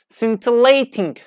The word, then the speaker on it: scintillating: Like, it's indeed fascinating that the letter C is not always pronounced in the combination S and C, giving us, for example, scintillating. Like, as you see S and C combination at the beginning of the word, S and C combination, it pronounced like S.